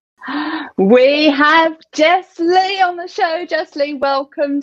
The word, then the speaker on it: Jesslee: name like a pro thanks for saying it one word which is very important to me because there is one other jesslee in the world but she's two words so it's Jess